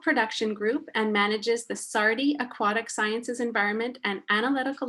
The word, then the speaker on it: SARDI: Nair leads an algal production group and manages the Sardi Aquatic Sciences Environment and Analytical Laboratories located at the Aquatic Sciences Division of the South Australian Research and Development Institute.